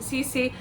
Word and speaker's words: Sisi: Okay, straight away I will say that she did say Cece I think at the beginning. So, uh I think that cleared it up for me that she does pronounce it Cece.